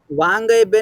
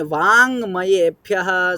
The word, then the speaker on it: वाङ्मयेभ्यः: चले, वाङ्मयेभ्यः समाहृत्य, वाङ्गयेभ्यः समाहृत्य, वाङ्गयेभ्यः नहीं, वाङ्मयेभ्यः समाहृत्य, वाङ्मयेभ्यः समाहृत्य, हृत्य देवीं वाचमिति स्थितिः।